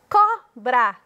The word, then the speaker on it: cobra: Cobra. Cobra. Có é a sílaba tônica.